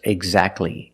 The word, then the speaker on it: exactly: And when you see T between consonants, it's silent. Don't pronounce the T. If you link the sounds, do not pronounce the T. Examples, exactly and Christmas.